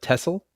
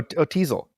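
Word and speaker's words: Teasle: From the First Blood, Tessel. Sheriff Tessel? Oh, Teasel. Teasel.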